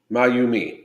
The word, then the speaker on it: Mayumi: It's Japanese. It's pronounced Mayumi. Mayumi.